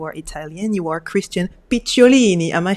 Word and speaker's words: Picciolini: You are Christian Picciolini.